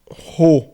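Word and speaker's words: ρ: E é igual ao R, igual a um R, como se você fosse dizer rato, como se você fosse dizer réu, rei. Então, o Rho funciona como se fosse um R.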